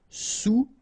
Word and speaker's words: sous: All right, and remember, sous. Okay, final S not pronounced, so S-O-U, sous, sous-marin.